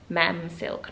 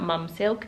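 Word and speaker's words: Mamsilk: uh pronouncing it wrong it's actually mam mam silk not mum silk but a reminder to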